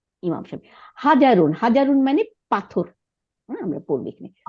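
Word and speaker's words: حَجَرٌ: না ইমাম সাহেব হাজারুন হাজারুন মানে পাথর আমরা পড়বো এখানে হাজারুন হা জবর জিম জবর রুদ্দিশ এই এই কয়টাই শুধু আমাদের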